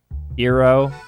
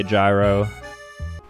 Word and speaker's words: gyro: Gyro. I used to say gyro. His pronunciation, gyro, is not listed on Wiktionary. The closest is gyro. Gyro is often proscribed. The term is from Greek gyros.